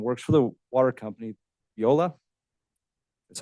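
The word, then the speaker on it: Veolia: in Nampa and works for the water company Viola that's how you say it they have three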